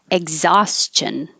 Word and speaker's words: exhaustion: so let's start with exhaustion egg because you don't really say the k or the g if i said x